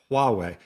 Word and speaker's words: Huawei: Well, this reminds me a lot of I know I'm going to say the name wrong. Huawei situation. It's Huawei.